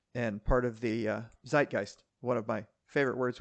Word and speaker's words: Zeitgeist: just out there and part of the uh Zeitgeist one of my favorite words which I now know how to pronounce correctly I think I used to say Z guys too dude yeah I've just I've just in